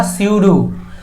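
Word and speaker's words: pseudo: इट जो होता है उसे स्यूडो सब्जेक्ट कहा जाता है, स्यूडो पी साइलेंट होता है इसमें।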